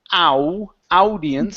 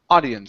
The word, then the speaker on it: audience: So when we have an AU like that, okay, it's typically only going to be an ah sound. So instead of saying ow, audience, it's ah, audience.